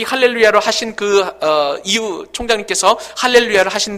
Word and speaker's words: 할렐루야: 좋다 이야기하고, 그 다음에 히브리 동사는 항상 끝에 액센트가 있습니다. 그러므로 할렐루에 힘을 주어서 얘기해야 된다는 것이죠. 그러므로 살아계신 하나님을 찬양하라 라는 그런 의미에서 할렐루야는 정확하게 할렐루야 이렇게 발음을 해야 된다는 거예요.